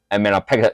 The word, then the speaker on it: amylopectin: 是统称，那我们。生物化学背景的人，营养食品背景的人，我们要背得更精准。好，我们这个字我讲过哈，台湾腔叫做 amylose，重点在 R，但事实上这个叫 amylose，这个念，哎，Y 怎么念？E 的音呢？问美国人，不要问我哦，这不是我的错啊。amylose 叫做直链淀粉，好，这个有事先泄题，请大家一定要背。好，再来支链淀粉呢？支链有人写 branch，呵呵不是啦，好是这个 branch 是没有错啦，只是这边的支链淀粉有专咪的单字叫做 amylopectin，好 amylopectin，我比较喜欢念 pectin，那美国腔 amylopectin，嗯，我实在不适应那个美国腔哈，就是非重音的 t 全部都弱化掉了，很抱歉，我无法接受，无法接受。好，来这边再来肝糖，肝糖叫做 glycogen，这个字要背 glycogen。glycogen 就其实储存在我们肌肉的、肝脏的啊、哦，这些东西可以让我们延续我们的力量哈、哦，延续我们力量。好，OK，